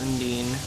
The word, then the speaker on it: Undine: Princess Undine. I would just say Undyne.